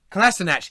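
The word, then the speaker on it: Kolašinac: Is that how you pronounce it? Kalashnikov? Kalasinac.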